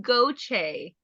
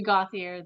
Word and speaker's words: Gauthier: have to be special in our in our pronunciation okay goche okay so wow you did not prepare myself